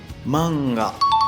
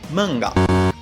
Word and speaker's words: mangá: Quanto à pronúncia da palavra, repare que o correto é manga e não mangá. Manga e não mangá.